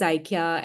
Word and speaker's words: Ikya: Maybe I didn't mispronounce her name. She will say it correctly. Ikya, right? Yeah, Ikya.